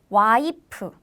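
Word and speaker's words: 와이프: in korean pronunciation is waipu why is also commonly used but have you noticed in korean we don't have f sound so we replace the f pronunciation with p sound so instead of wife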